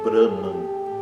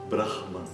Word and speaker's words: Brahman: Você não pode ignorar a presença dessa consoante e pronunciar Braman. Não é isso, é Brahman.